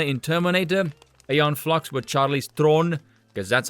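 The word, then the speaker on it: Charlize Theron: uh Sarah Connor in Terminator ayon flux with Charlie's Throne because that's how you pronounce her name you ignorant peasants and that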